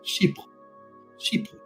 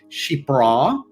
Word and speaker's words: chypre: um but the French because it is a French word it's she sheep that second syllable is sort of Bel can maybe articulate that a little bit better it's not Shea sheo um yes it's